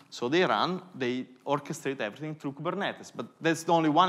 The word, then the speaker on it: Kubernetes: So it's called Kubernetes, so don't pronounce it my new wife, she's Greek, so she told me how to pronounce it.